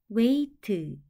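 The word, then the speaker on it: weight: 치우다 또는 없애다 뜻이에요는 우이 아이는 이중 모음으로 a 소리가 나고 gh n 묵음으로 소리가 나지 않고 티는 트 소리가나요 우에는 같이 소리 나서 왜이는 혼자 소리 나서이 트도 혼자 소리 나서 트 웨이트 한 번 읽으면 ight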